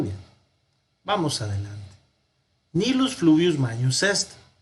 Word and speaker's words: magnus: Nilus fluvius magnus est. Ojo, la G y la N en latín se pronuncian como una ñ.